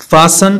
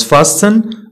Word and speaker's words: fasten: T is not pronounced in these common words. ملي كنقول common words يعني كيكونوا فقط معروفين وكنخدموا بهم دائما. كتكونش عندهم واحد القاعدة ثابتة castle not castle christmas not christmas fasten not fasten listen هذه